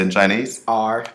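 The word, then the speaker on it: 二: R.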